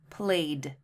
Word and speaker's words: played: But in the last one, played, it's just one syllable, okay?